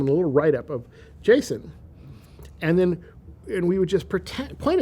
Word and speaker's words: JSON: And so we said, well, let's call it, JavaScript object notation, because then we can pronounce it JSON, like Jason and the Argonauts.